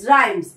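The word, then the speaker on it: rhymes: আর এইচ ওয়াই এমই এস রাইমস। এখানে এইচটা silent আছে।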